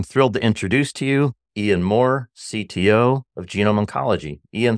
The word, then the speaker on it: Ian Maurer: guy too I'm thrilled to introduce to you Ian Moore CTO of genome oncology Ian thanks for being